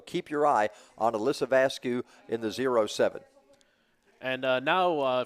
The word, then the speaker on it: Vasquez: And Vasco, her dad told me how to pronounce that, and now it's escaped me. I believe it's Alyssa Vasquez. Vasquez. Well, I was right.